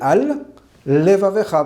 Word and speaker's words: al levavecha: On pourrait avoir tendance à fusionner les deux, sans faire la différence entre al levavecha entre les deux. Il faut bien poser al levavecha, bien prononcé.